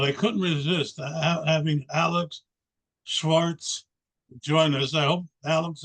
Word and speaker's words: Shvarts: website sounds good so uh again it's Alex Schwarz and many people mispronounce my last name but but that's okay